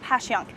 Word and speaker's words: Passyunk: today we are in pass young square or as it's affectionately pronounced by local philadelphians as passion we're going to tell